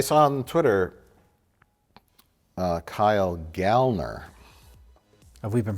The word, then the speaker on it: Kyle Gallner: I heard and that's the proper way to pronounce it is gallner he was pushing for a a tweeting about